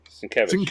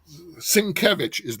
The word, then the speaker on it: Sienkiewicz: magazine covers and so forth were by Bill Sienkiewicz. I think that's how you say his name. hmm? We're by Bill Sienkiewicz. Sienkiewicz, yeah.